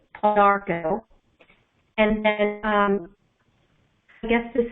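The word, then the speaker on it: Pau d'arco: But I also used to drink, when I was recovering from my cancer, Paudarco tea, and that's spelled P-A-U, capital D, apostrophe A-R-C-O. So it's Paudarco.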